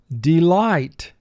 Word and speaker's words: delight: First syllable D, 2 sounds. D, E. Light, 3 sounds. L, I, t. Delight. Mark the word. Delight. IGH is a 3-letter vowel team representing the long I sound.